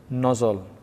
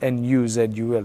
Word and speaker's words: nuzul: madina it's called nozzle you just spell it weird nozzle n-o-z-o-l should be n-u-z-u-l nuzul because that's what the arabic word is so that's what